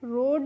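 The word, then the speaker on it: rode: रोड ही पढ़ते हैं।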